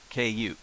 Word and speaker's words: く: Now this character, this is the pronunciation for it. Ku, ku, ku, ku. It's pronounced like that.